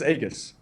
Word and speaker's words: Aegis: He says Aegis. Aegis, yeah, like with a hard G, pretty much.